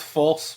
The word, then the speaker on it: Fulce: It's pronounced false, but I've been called